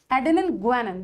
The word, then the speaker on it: guanine: So see, adenine, guanine. This is how we pronounce it. Guanine.